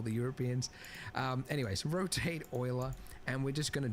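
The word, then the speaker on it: Euler: Rotate not ul. Yes, I know they went with the weird pronunciation.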